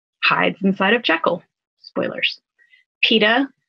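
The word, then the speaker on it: Peeta: inside of jekyll spoilers peta his name rhymes with pita bread in the hunger games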